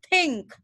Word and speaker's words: think: Jadi ini bukan dibaca oink, ini dibacanya adalah think.